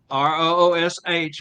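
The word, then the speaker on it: Ruch: R-U-C-H. Would that be Rutch? Rush? Roosh? Elizabeth I'm Roosh. staying out of it. Are you R-O-O-S-H would be the way you pronounce it. She says Roosh.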